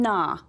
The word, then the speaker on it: gnaw: We have grow and gnaw. Which one has the silent? That's right, that G, G-N, is the silent letter.